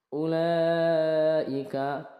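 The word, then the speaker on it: أولئك: ayat kelima ayat kelima ulaika lah Wau Wau ini di atasnya ada sifer ataupun bulat kecil ya ini wawya tidak di baca dianggap tidak ada tidak Ula tapi Ula ulaika jadi wwya tidak dibaca La Ini dibaca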